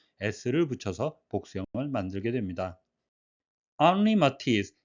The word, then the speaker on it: Henri Matisse: 앙리 마티스, 헨리 마티스가 아니라 브로식 발음으로 앙리 마티스가 되겠는데요.